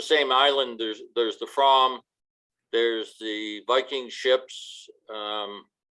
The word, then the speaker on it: Fram: as another thing the the proper pronunciation of the fram is the from it's it's just i